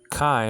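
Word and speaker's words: καί: Kai nowadays pronounced ke, tain, gain, the earth.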